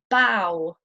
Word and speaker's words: bow: ough can also be pronounced like the ow sound in the words plough, bow.